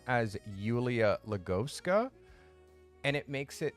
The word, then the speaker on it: Julia: Julia in the Ukraine Julia is pronounced Yulia Yulia like a y so what I suggested